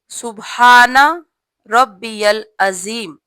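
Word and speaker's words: سبحان ربي العظيم: जीम की आवाज नहीं निकालनी, जा की आवाज निकालनी है। सही लफ्ज है सुबहाना रब्बियल अजीम।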